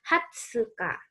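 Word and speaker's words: 二十日: Kemudian 20, nah ini Hatsuka.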